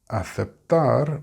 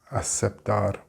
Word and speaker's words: aceptar: In Spanish, in Spain at least, because it may be a little bit different in Latin America, you pronounce the word aceptar by making a th sound.